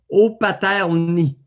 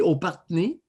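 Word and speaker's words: Opatrny: J'ignore si je le prononce bien, mais d'après ce que j'ai lu, c'est que le R est après le T. Opaterny. Bon. Mais si le R est devant le T, ça va faire Opaterny.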